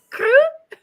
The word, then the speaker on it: croup: I kept telling myself, I wonder how this is pronounced in English. And then I forgot to check. I was like, is it crew? Yeah. Crew? Crew. Crew.